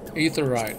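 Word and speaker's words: Aetheryte: up in authorized shards ether right is how they pronounce it in the game or you also get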